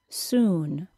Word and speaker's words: soon: Compare the vowel sound in the word good with the OO sound in the word soon.